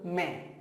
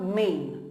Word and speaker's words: मैं: N should be around 15 to 20% only nasalized, okay? So मैं, focus that, remember it. मैं. मैं means I. मैं. मैं. Okay, the next thing, मैं you have written.